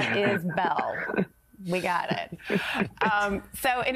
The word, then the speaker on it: Isbell: It's Isbell, not Isbell.